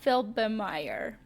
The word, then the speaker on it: Felbermayr: And the other girl that won the second race, uh that is Emma Felbermayr. Is that how you pronounce her? Emma Felbermayr. Fel- Felbermayr. There you go. That sound better now. Emma Felbermayr.